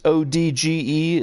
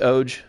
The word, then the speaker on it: OG: So do you know it's ODGE? Is that how you pronounce it?